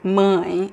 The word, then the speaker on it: mãe: At least the way that I pronounce mine, I say mine, and the word mãe is mãe. It's a closer sound.